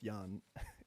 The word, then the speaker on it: Jan: big deal or anything it's pronounced yan it's it's a german name it's i understand okay no worries okay i i like i like yan okay that's the pronunciation